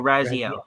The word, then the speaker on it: Raziel: razel Raziel oh Raziel my apologies like the game yeah Raziel yeah I